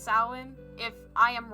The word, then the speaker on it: Samhain: Samhain. Apparently, I What? know, it's a really Halloween. weird word. It's Halloween. It's pronounced Samhain.